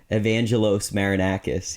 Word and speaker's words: Evangelos Marinakis: by a Greek shipping magnet named evangelos marinakis evangelos marinakis yeah just like that that's that's probably how